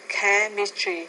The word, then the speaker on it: chemistry: English, biology, chemistry, and pharmacology, which are Some word chemistry stress. and pharmacology, I would say there chemistry on that first syllable.